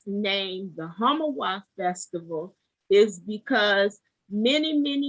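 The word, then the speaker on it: Homowo: accra in ghana west africa and the word homowar which is spelled h h-o-m-o-w-o means literal literally means to hoot at hunger and the reason it's named the hamawa festival is because many many years ago hundreds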